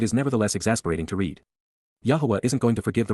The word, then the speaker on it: Yahowah: But instead, KY, at that time, AZ, simultaneously at that point, YAHOWAH, YAHOWAH, the proper pronunciation of the name of Eloah, God as